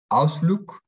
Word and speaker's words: Ausflug: Por ejemplo, la G al final se pronuncia como K. Ausflug.